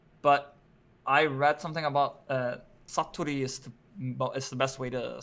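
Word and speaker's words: 사투리: But you can either call it the kyonggi satoru. No, sorry. Why did I say it like that? Saturi or Seoul saturi Hmm.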